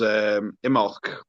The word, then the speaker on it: Imbolc: the same time as Imbolc. Is it Imbolc? Have I butchered the pronunciation? Imbolc. Yeah, no, it's Imbolc. A silent B.